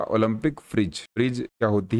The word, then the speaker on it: Phryges: तो हिंदी में इसको हम फ्रिज बोल सकते हैं।